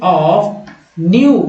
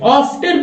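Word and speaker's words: often: नहीं दोस्तों, ऑफ्टन नहीं पढ़ेंगे क्योंकि यहाँ टी साइलेंट है, इसको टी को नहीं पढ़ना है, लिखा रहेगा लेकिन पढ़ना नहीं है। क्या पढ़ेंगे, ऑफन।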